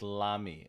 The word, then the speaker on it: Lamy: Oh, Mark here is Lamy. Okay, Lamy, perfect. Yeah, I think I was just like Cassie. I was pronouncing it Lamy for quite some time.